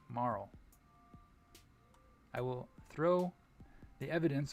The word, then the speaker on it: Marle: And the winner was that pronunciation, Marl.